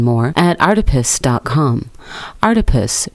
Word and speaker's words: Artipoeus: at our deepest com our deepest pronounced like octopus because art is everywhere that's all for articles